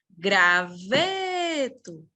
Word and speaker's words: graveto: Graveto, penúltima sílaba tônica.